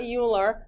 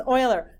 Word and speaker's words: Euler: the name is spelled it's not Euler that's coiler he was not Dutch German maybe right there on there he's Euler so here's the okay fun fact about your um trivia fact about Euler if you're ever on